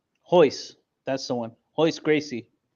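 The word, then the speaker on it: Royce: with the h well other names start with an R but it's pronounced like an H there's Euler there's henzo there's Ryan and then there's hoist hoist that's the one always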